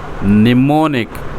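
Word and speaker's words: mnemonic: ए निमोनिक technique ए निमोनिक निमोनिक कछ एम AD silent बला तो एम मध्य कौन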